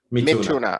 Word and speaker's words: Mithuna: So I notice here with the next one, the Mithuna. Am I pronouncing that correct? Sure. Is it Mithuna? Is that correct? Mithuna.